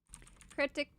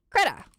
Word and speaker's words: Krita: Krita. It's just Krita. It's not, yeah. It's just Krita. I don't know why I want to add the extra things. Krita Linux. Let's take a look. Operating systems. Krita's free and open source.